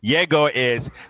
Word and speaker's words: Egor: Yegor he got the basketball IQ.